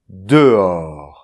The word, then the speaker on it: dehors: So in fact, the - H here, it will avoid the hiatus, that is to say, to say , all at once, like this.